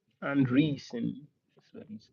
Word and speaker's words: Andreessen: In the essay, Anderson Andreessen, that's what his name, I need to spell it out right.